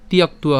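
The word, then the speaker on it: ত্যক্ত্বা: তাহলে অবস্থিতা, হ্যাঁ, তাহলে ত ইমে অবস্থিতা যুদ্ধে প্রাণাংস ত্যাক্তুয়া। তো আমরা এখানে দন্তস্ব পর্যন্ত উচ্চারণ করলাম প্রাণাংস, আর এখানে উচ্চারণ কেমন হবে? তিয়াক্তুয়া হবে।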